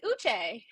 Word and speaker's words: Uche: Robert, they're gonna eat you up if you don't pronounce these African names this season. Is it you call Uche? him Uche? It's Uche.